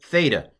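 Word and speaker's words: θῆτα: do you okay Ada Theta I'm to pronounce it as th again originally it might have been more of a t a breathy t t but I'm going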